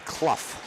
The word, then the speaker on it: Clough: That'd be Clough. Clough. Rhymes with tough.